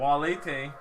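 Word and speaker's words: valete: Walete is how you say bye to multiple people.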